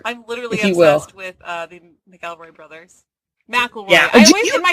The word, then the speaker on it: McElroy: I'm literally obsessed with the McElroy brothers. McElroy. Yeah. In my head it's always McElroy. I know it's McElroy. It's spelled McElroy, but it's pronounced McElroy, and so that's why it kills us.